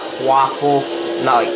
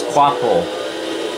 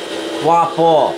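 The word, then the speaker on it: Kvapil: I know it's not Quaffle. I know it's not like waffle and stuff. Jeez, people. But that's how you pronounce his name, is Quapple. Quapple.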